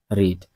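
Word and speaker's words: read: এই সেন্টেন্সে ভার্বকে, পড়া, পড়ার ইংলিশ কি, রিড। এটা হচ্ছে ভার্বের 1 নম্বর রূপ। এর 2 নম্বর রূপ কি, রেড, ঠিক আছে? তো বানান কিন্তু একই, উচ্চারণের একটু পার্থক্য আছে।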